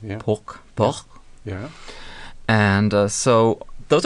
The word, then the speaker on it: porc: So, and pork is actually almost spelt the same way, but pronounced without the K in French. Yeah. Porc.